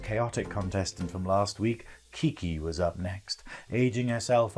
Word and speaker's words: QiQi: So the real pronunciation is QiQi. QiQi, so it means 7 in Mandarin Chinese. But, like Queen Elizabeth, I am for the people. So white people, you're welcome to call me QiQi, okay?